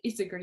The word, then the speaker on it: Isager: And those are in collaboration with the Neighborhood Fiber Company I have, and also Isayer, or they pronounce it Isager Yarn Company.